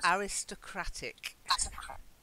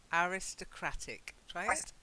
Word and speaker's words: aristocratic: be a little bit you have to just learn those two different pronunciations aristocracy the aristocracy are